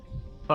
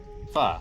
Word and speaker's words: pho: How do you say faux? Pho. Oh? Pho. No. Yeah. What? Yeah, it's pho. Also, Pho, pho is the Vietnamese. noodle dish.